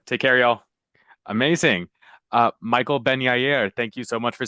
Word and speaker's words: Benyaer: Yeah, I go by Benyaer, but that's the definite old school pronunciation.